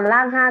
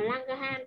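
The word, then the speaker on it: Langerhans: Thì đọc là lang han hay là lang ghe han ạ? Cô vẫn hay đọc là lang ghe han, tại vì nó có chữ gò ấy.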